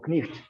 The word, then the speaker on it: knight: very much like we today write the word knight or knight even though we don't say knife anymore and